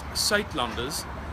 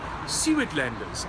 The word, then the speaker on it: Suidlanders: again where to find more information okay it's pronounced sat lunders uh but in uh English you would probably pronounce it some of like sew Landers and this is how you spell it s